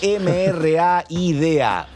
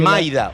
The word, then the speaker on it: Mraida: Te dicen Maida o Rayda. Como accedía que cada uno lo pueda pronunciar como sienta, nosotros le decimos Mraida. Ah, ¿ves que pero es más difícil todavía. Sí, ¿cómo? Mra. Ah, Bra. Como una B. Como si fuese B, pero con M, Mra.